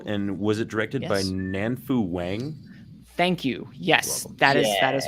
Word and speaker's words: Nanfu Wang: It is on HBO, and was it directed by Nanfu Wang? Thank you. Yes, that is her. It's good pronunciation there too.